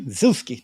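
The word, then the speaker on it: Zoosk: 10 uh number three Zusi never heard of it it is another popular site and it's spelled Z like Zoo z k Zusi is another popular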